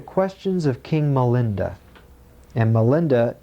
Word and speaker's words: Milinda: And Milinda is the Pali pronunciation of the Greek name Menander.